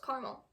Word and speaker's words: caramel: How do you pronounce caramel? With 2 syllables, with 3 syllables. I would have to say with 2 syllables, caramel. A lot of people say caramel, but I would have to say caramel. Never say caramel.